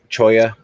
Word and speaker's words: cholla: murdered in the chat the cholla wood choya it's kinda like c-h-o-y-a um because that's how the cactus is pronounced um and i only